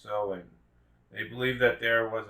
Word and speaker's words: Samhain: of the longest night of the year samhain pronounced sowing they believed that there was a misty veil